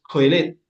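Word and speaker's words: קֹהֶלֶת: Bien, en hebreo pasa lo mismo, no es Eclesiastés, en hebreo es coelet, menos así se pronuncia, que significa uno que llama a congregar al pueblo, ¿cierto?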